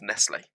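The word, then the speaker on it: Nestlé: Or Nestle. Not Nestle, is it? It's Nestle. That's how you say it.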